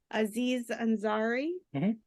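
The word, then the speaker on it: Aziz Ansari: really ever uh I chose I might be pronouncing it incorrectly Aziz anzari ah okay did I say that correctly yeah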